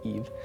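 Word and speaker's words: Yves: it's a male it's it's french and it's y-v-e-s that's how you say eve oh okay i know yeah not how you expect it and another thing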